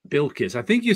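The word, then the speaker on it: Bilquis: But the first name is pronounced Bilkis. Bilkis.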